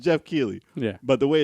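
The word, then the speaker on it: Geoff Keighley: his name is it's GI it's pronounced it's pronounced Jeff key but the way it's spelled is it's a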